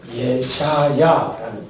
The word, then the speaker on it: 이사야: 이사야. 할렐루야. 원래 이 이사야라는 원래 본토는 예샤야라는 말이에요. 예샤야. 그런데 우리나라 발음으로 쉽게 하려고 이사야 이렇게 표현했어요.